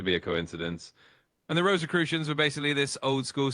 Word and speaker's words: Rosicrucians: It's the Rosicrucians.